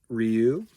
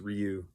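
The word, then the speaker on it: Rieu: The other one he recommended for the Odyssey was E.V. Ryu. I think that's how it's pronounced. I don't know what EV stands for. EV, and then it's R-I-E-U is Ryu.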